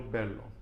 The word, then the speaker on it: verlo: I always forget to pronounce the B, like the V, like a B. Quiero verlo.